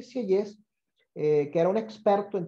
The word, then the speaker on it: Sieyès: Y aquí es donde entra en juego este caballero, Emmanuel Joseph Sieyès, el famoso abate Sieyès. De nuevo te pido me corrijas la pronunciación de mi francés, Gabriela.